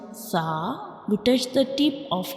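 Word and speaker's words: ث: This is the inner view of mouth, and when we pronounce sa, we touch the tip of tongue to the edges of upper teeth, like sa, sa, sa, sa.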